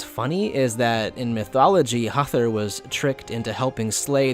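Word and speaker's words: Höðr: Properly written, it's like this, again with the letter F and the short tapped R at the end, and when written in Japanese, it's Hezu. This is the name that looks most unlike how it is spelled out in English, like you wouldn't be able to assume this is the pronunciation just off rip.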